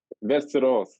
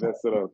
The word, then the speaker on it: Västerås: Vasteras. Västerås. VSK Västerås. I have pronunciation a little better than mine.